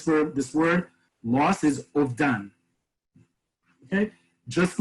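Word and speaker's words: אובדן: This verb, this word, loss, is ovdan. Okay, just like in Ashkenazi Hebrew, the a vowel that looks like a T can be translated sometimes as, can be pronounced rather as an O.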